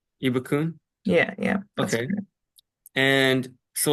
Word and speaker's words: Ibukun: pronouncing your name correct so how do I pronounce your name ibukun ibukun ibukun yeah yeah and so like this is this